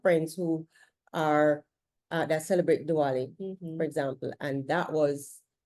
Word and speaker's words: Diwali: because we have friends who are that celebrate Diwali, for example, and that was really, really, did I pronounce it correctly, by the way? Diwali. Some Yes. say Diwali, some say Diwali.